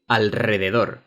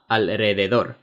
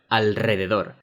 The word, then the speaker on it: alrededor: The letter R after the letters N and L is pronounced r. Okay? Alrededor. It's not alrededor. No, alrededor.